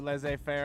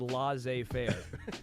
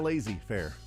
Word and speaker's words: laissez-faire: How you said laissez-faire. Oh, jeez. It's that community college education. Baby. You said it kind of lazy fair is what you did. Not enough of emphasis on syllables.